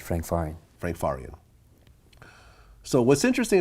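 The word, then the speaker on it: Frank Farian: hook up with Frank uh faran is that how you pronounce that's right Frank faran Frank faran so what's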